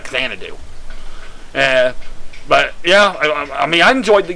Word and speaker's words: Xanadu: Yes, I realized I was pronouncing it wrong when I was Let's Playing the game. I was pronouncing it Xanadu, but I was playing the game completely blind. It was recommended by somebody, so I didn't know how to pronounce it, but now that I know how to pronounce it, it's Xanadu.